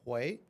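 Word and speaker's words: Huế: They pronounce it Hue. I call it Hue. H-U-I. Oh, sorry. H-U-E. H-U-E.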